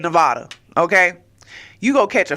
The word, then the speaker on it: Nevada: one one good time it's Nevada okay Nevada not Nevada okay please stop saying that because it is offensive all right just like just like anybody else my pronoun is Nevada okay say it right make sure you say it correctly okay uh but it's